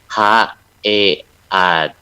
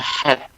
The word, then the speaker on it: head: bahasa Inggrisnya kepala itu yang tulisnya HEAD dibacanya jadi head. Kalau sempat perhatikan dibacanya head, yaitu belakangnya terdengarnya kayak T, padahal belakangnya D. Jadi mestinya dibacanya head gitu ya.